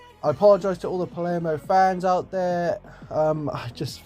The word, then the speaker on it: Palermo: right way to say it, but it's actually pronounced Palermo. So I apologise to all the Palermo fans out there.